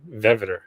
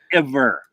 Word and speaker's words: vetiver: bergamot, neroli, iris, and veveter. Ah, you did it again. Did I? Veveter. Veveter. Is that not how it's said? How's it? Vetiver.